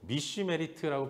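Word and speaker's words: משמרת: 근데 여러분, 이 명령이라는 것은 히브리어로 미슈메리트라고 발음하는 단어인데 뜻이, 의미가 이 울타리를 친다라는 뜻을 갖고 있어요.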